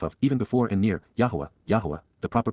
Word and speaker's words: Yahweh: Yahweh, Yahwa, the proper pronunciation of Yho, God's personal and proper name